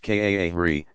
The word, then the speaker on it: qari: Excellent, is called a qari, pronounced kaahri, professional Quran reciter.